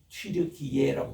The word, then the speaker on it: 튀르키예: 참 이게 터키만 해도 그 터키가 이제는 그 사람들이 반드시 부르기를 튀르키예라고 붙여달라고 해서 그의 본토의 민의 발음이에요.